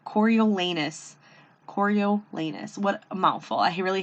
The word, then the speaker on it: Coriolanus: prequel to the hunger games it is about coriolanus snow i did look up how to pronounce that name coriolanus choriolenous what a mouthful i really hated seeing his